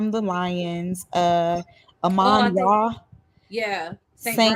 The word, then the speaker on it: Amon: Lions, Oh, I Amon think Ra, yeah, St.